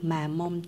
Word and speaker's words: Mamonde: bạn rửa bên hàng chỉ là marmande phải đọc là mà mong từ bộ sưu tập